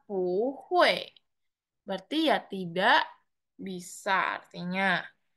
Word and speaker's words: 不会: Kalau ditambah pu ya, jadi bacanya pu hui.